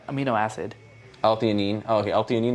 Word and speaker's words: alanine: for theine and another Eline El is a amino acid Eline oh okay alanine that's how you pronounce it alanine I've seen it on